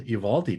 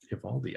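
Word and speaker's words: Eovaldi: he doesn't piss till monday but happy nathan evaldi day ivaldi i've been working on that pronunciation there is one lineup that has been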